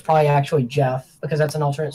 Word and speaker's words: Geoff: I've said it in, like, the country of, it's actually, if you want to get technical, probably pronounced Jeff, G-E-O-F-F.